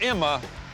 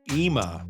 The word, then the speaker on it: Ima: Whether you pronounce it Ima or Imma, I'm gonna go in there and get a bite to eat. I hear it's pretty good. Actually, Tom, it's pronounced Ima.